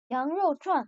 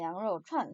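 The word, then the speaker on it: 羊肉串: 양료추안. 여러분 중국어 나오면 여러분 적어도 양꼬치 먹으러 갈 때 간판은 적어도 정확한 발음으로 읽을 수 있어야 되지 않겠어요? 양료추안입니다. 양료추안 사성인데 이 양료추안 같은 경우에는 가장 대중적인 이슬람식 회교 요리입니다.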